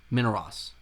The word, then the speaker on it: Minos: Uh, Methus uh, how do you pronounce it? From minus minus minorus. Minos.